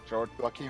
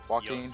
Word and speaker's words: Joaquin: guy who did the Joker in the Joker jockey Felix how's it pronounced Joaquin Phoenix watching yeah and I want to know